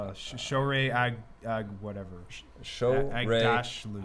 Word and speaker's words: Aghdashloo: Shohreh Aghdashloo. Aghdashloo. Fantastic. Aghdashloo.